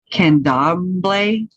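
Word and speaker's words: Candomblé: oh my god i can't even say it can doblay c-a-n-d-o-m-b-l-e with a apostrophe like a comment at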